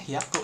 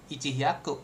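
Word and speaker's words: 百: Nah, kebetulan kalau kalau 100 tetap bilangnya hiaku ya. Di sini tuh yaku tetap pakai formula yang seperti ini. Yakala 100 yau. Jangan ici. Ichih yaku gitu kan.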